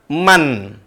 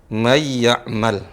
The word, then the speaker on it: مَنْ يَعْمَلْ: Nah, cara bacanya sekarang bukan man. Nun mati, suara mannya hilang. Tidak terdengar. Hilang. Kemana dia? Masuk ke huruf ya. Jadi bacanya seolah-olah ya. Mayyamal.